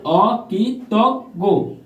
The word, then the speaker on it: অকৃতজ্ঞ: জ ইয় যুক্ত আছে অকৃতজ্ঞ বানান উচ্চারিত হলো অকি তক গো ভিউয়ার্স অ কি ততগ